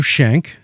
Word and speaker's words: Schenck: a great segue to introduce Our Guest shank am I pronouncing that correctly yes also of dram and